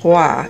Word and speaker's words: Roy: the king nice Anka that is pronounced Gua instead of Roy it of course often